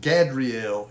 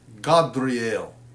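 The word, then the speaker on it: Gâdreel: Okay, and so when it's like that, that actually is, instead of Gadriel, it's Godriel. Godriel.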